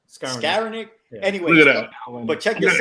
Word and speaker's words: Skowronek: I always say it wrong. Skadarowick? What is it? Skowronek.